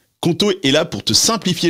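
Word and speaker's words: Qonto: Conto est là pour te simplifier la vie d'entrepreneur.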